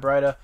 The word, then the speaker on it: Breida: I think it's Breida is actually how you pronounce it.